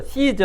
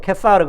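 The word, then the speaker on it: Caesar: 카이사 카이사에 이제 가이사라이 우리가 보 케스라 그러죠 시즈 할 때 시즈는 여기 발음이고 이제 라틴어 발음은 케사르 든요 사르데 이제 이제 뭐 카이사르 케사르이라고 할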